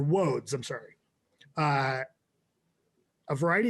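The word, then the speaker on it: Łódź: in poland called woads it's spelled l-o-d-z but it's woeds or woads i'm sorry uh a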